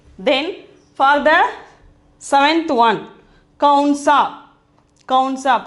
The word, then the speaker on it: कौन सा: Then for the seventh one, kaunsa. Kaunsa.